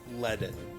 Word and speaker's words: leaden: In the blink of an eye, how do you pronounce that? Leaden.